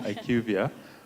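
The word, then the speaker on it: IQVIA: So about you're pronouncing it right. So it's Ivia.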